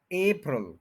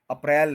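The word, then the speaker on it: April: है प्रल प्रल फल एप्रिल एप्रिल एप्रिल अप्रैल नहीं है पहले ए बी सी वाला जो ए है वो बोले और फिर प्रल एपल तो यह टू सिलेबल्स है फर्स्ट के ऊपर स्ट्रेस है अप्रल इसको सुन भी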